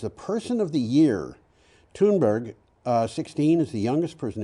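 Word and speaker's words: Thunberg: oro so this would be betoonboro but it's toonberg anyway you've read the the the title and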